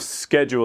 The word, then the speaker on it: schedule: So the spelling of schedule is a little strange. Really, it's almost like schedule. Schedule, two syllables.